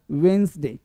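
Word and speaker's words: Wednesday: वेडनेसडे गलती बोलता है वेडनेसडे वेडनेसडे ये डी को नहीं बोलते हैं डी को नहीं बोलते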